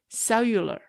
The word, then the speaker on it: cellular: at it you know because the L can go together with the you so I say cellula so every time I'm